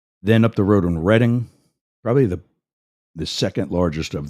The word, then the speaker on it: Reading: You might not be thinking Reading because it's spelled reading, as in reading a book, but it's actually pronounced Reading.